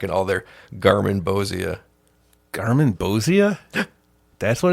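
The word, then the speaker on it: Garmonbozia: Garmin Bozia.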